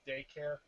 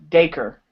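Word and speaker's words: Dacre: the Red Ranger wait did you just say his name was daycare his name is daker okay okay present everybody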